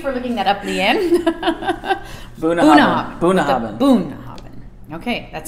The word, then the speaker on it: Bunnahabhain: Bunnahabhain. With emphasis on the boon, what this guy. What did I say? Bunnahabhain.